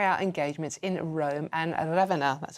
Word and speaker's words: Ravenna: and will carry out engagements in Rome and Ravenna. That's how you pronounce it.